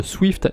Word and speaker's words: SWFT: Accessoirement on a aussi le bridge Swift, il est pas très connu celui-là, enfin je prononce Swift parce que c'est plus pratique mais ça s'écrit SWFT, il n'y a pas de I.